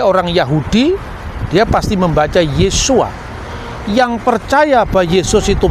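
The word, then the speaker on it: Yeshua: Yesus ketika dia orang Yahudi dia pasti membaca yesua yang percaya bahwa Yesus itu Mesias pasti membacanya yesua hamasiah nah yesua H masiah itu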